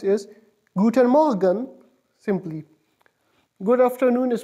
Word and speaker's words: guten Morgen: E and M or GE in and it's pronounced is guten morgen guten morgen guten morgen good morning is pronounced yes guten morgen simply good afternoon is pronounced firstly spelled is